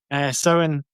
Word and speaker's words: Samhain: I mean, last year Paul and I were having multiple conversations about how the hell you even pronounce it, but finally settled on sin, um, which is like